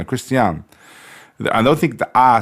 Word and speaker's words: Christiaan: I've been saying Christian. Christiaan.